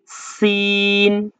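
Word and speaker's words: سين: তো এই হরফটার উপরে যেখানে দেখবেন শুধু ৩টি মাথা রয়েছে, কোনো উপরে কোনো নক্তা নেই, এই হরফটাকে অত্যন্ত চিকনভাবে উচ্চারণ করতে হবে। খুব চিকনভাবে উচ্চারণ করতে হবে। যেমন সিন। ৩টি মাথার উপরে যখন দেখবেন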